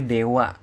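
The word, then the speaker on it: では: ketika awal-awal belajar ya padahal ditulisnya DH dibacanya Dewa Ya hati-hati itu jangan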